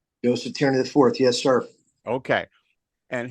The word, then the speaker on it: Tierney: Joe Tierney IV.